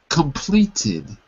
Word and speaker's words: completed: Completed. Completed. Right. Because you were saying complete, and I couldn't hear the last syllable. So after a T, the past tense sounds like tid.